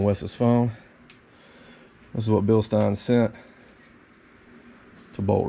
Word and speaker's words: Bilstein: big shout out to bill stein because and i learned how to say it watching another video not bill stein bill stein but this setup is